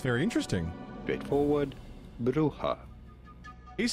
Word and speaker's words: Brugge: In Dutch or Flemish? This name would be pronounced as Brugge. Bruja.